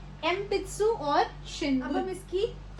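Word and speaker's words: えんぴつ: आप इसको एन पित्सु नहीं बोलोगे, आप इसको एम पित्सु बोलोगे, क्योंकि इसमें जो एन है वो पी के साथ आ रखा है।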